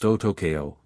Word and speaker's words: Otoko: First name pronounced and the second name is pronounced Otokeo, but just call me.